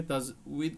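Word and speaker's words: تجويد: তাজবিদ এটা বাংলা ভাষায় যতগুলো বই আছে ম্যাক্সিমাম তাজবিদ এমন পাবেন না হ্যাঁ এখানে বয় দীর্ঘ পাবেন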